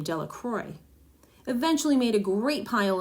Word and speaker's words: Delacroix: and Harry Jones and Dicky delaqua the villagers pronounce his name delacroix eventually made a great